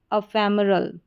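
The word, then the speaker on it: ephemeral: इसको अ करके पढ़ेंगे, PHE फे, क्योंकि PH को फ पढ़ते हैं तो PHE फे, फे, ME में, RAL रल। फिर से देखें, ई को PHE को फे, ME में, RAL रल। तो पूरी स्पेलिंग क्या बन गई? अफेमरल।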